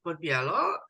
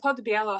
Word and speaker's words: Podell: name correctly just yes it's uh Podell however I have two because I'm American and polish so my American is called and my polish is different but it doesn't exist in English because we have special letters in Polish so it's p so